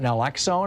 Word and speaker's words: naloxone: They are passing out naloxone, I think is how it's pronounced.